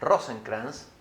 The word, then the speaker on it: Rosenkranz: en primer lugar a rosencrans eh pronuncié bien el apellido Perfecto impecable rosen es abogado